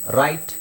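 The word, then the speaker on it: write: ಆಮೇಲೆ ಗೊತ್ತಾಗುತ್ತೆ ನಿಮಗೆ ಓಕೆಡಬ್ ಆರ್ ಡಬ್ಲ್ ಆರ್ ಬಂದಾಗ ಡಬ್ಲ್ಯೂ ಸೈಲೆಂಟ್ ಆಗಿರುತ್ತೆ ಆರ್ ಉಚ್ಚಾರಣೆ ಮಾಡಬೇಕು ನೋಡಿ ರೈಟ್ ರೋಟ್ return ರಿಸ್ಟ್ wrong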